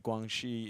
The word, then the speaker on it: Guangxi: The X in Jubei and Guangxi is a sh sound, not a z sound.